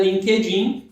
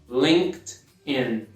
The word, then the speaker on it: LinkedIn: Não é LinkedIn, e sim LinkedIn. O E ele não pronuncia, a primeira parte, né?